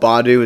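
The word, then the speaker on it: Badoo: I done this one dating app it's called Badu it's spelled b a d o o don't go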